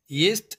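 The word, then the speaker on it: есть: Yest ek imperfective verb hai yani na mukammal fail hai jiski meaning hai khana to eat. Aur pronunciation kuch is tarah se hogi. Yest. Yest. Yest.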